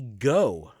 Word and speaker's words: Goh: become a Pokemon master but we also see go who is Ash's I guess friendly rival like typically you have you know your friendly rivals and your rival rivals it seems like he's got a good relationship with go and go is spelt G